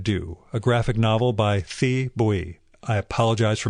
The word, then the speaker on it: Thi Bui: And last, The Best We Could Do, a graphic novel by Thi Bui. I apologize for mispronouncing that.